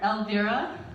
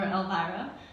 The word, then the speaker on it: Elvira: sort of a critter alvirah or elvira depending on how you pronounce it means counseled by elves